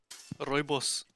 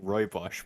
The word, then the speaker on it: Rooibos: Rooibos. Yeah. Oh, that sounds cool as fuck when you say it in proper South African. What did you I've, call I've it? been pronouncing it like Roibosh my entire, or like shitty pronunciation my entire